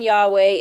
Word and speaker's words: Yahweh: So the closest pronunciation is Yahweh.